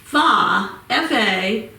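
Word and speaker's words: Fage: And then I see when I turned around the container, it says on here, pronounce, and it's F-A-Y-E-H. So I'm going to say Faye.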